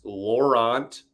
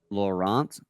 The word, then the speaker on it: Laurent: The hockey reference phonetic pronunciation is Laurent Brossoit. Laurent Brossoit.